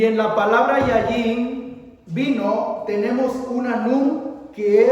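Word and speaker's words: יין: Yayin. Yayin se escribe con dos yud y una nun.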